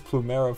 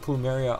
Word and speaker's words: Plumeria: gonna be summoning for mythic plumeria i think that's how you say her name i thought it was plumera for the longest time but mythic plumeria on friday because as